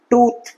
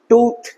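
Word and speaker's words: tooth: এরকম আগের দিন বলেছি লম্বা you, long you. টুথ, নট টুথ, টুথ।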